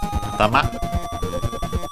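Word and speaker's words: あたま: We have first and foremost atama, which means head. Let's check its accent. I think the most common accent should be on the last syllable.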